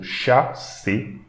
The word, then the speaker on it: chasse: So again, CH, so we should pronounce English SH. So SH and A, so sha. And again, ER, so A. So chasse.